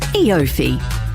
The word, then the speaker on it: EOFY: a word you can read but can't quite pronounce ifi e offi e5 it's eofy and this end of financial year it's easier